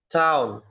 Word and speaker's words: town: Tun kota. Oke. Cara bacanya town. Bisa Town. dicoba. Town. Town. Oke, town artinya Kota.